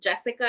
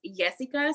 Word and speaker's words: Yesica: with my name because it's not jessica it's jessica so i always get